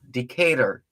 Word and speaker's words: Decatur: That's how they say it in Atlanta. Decatur, Decatur, Decatur.